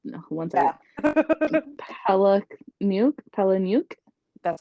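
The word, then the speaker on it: Palahniuk: Chuck palah who wants that I look new Pala nuke that's not how you say it I know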